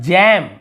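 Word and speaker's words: jamb: यहाँ पर जैम, यहाँ पर भी ब नहीं पढ़ रहे हैं, ठीक है, जैम, तो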